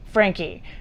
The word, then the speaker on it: Franke: It's spelled Franke. One would assume you'd say Frank and the E would be silent, but apparently that is not correct. Ruby Franke.